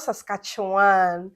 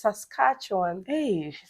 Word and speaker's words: Saskatchewan: hot as compared to Saskatchewan yeah we talk about Saskatchewan is this as cartoon it's also it's not Saskatchewan some people mention this Saskatchewan please it's Saskatchewan Saskatchewan in Toronto and